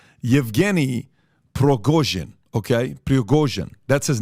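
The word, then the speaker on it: Пригожин: Number one, the guy behind Wagner Group is a guy named, I want to pronounce this correctly, Yevgeny Prigozhin. Okay, Prigozhin, that's his name, Yevgeny Prigozhin.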